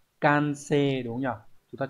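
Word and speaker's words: 完成: Như vậy hoàn thành đọc là can-se đúng không nhỉ?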